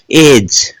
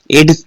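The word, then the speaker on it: edge: हमने यहां पर देखिएगा जी से पहले डी है क्या बोलते हैं ब्रिज बोलते हैं ब तो नहीं बोलते क्यों नहीं बोलते डी साइलेंट होता है जी से पहले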